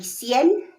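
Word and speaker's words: cien: there are two ways to read your 100 it's gonna be cn okay that's the first one if if it's just 100 it's cn it's spelled c i e n c n okay now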